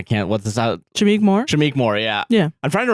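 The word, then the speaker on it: Shameik Moore: e k oh yeah so it's kind of said how it's spelled so I just I'm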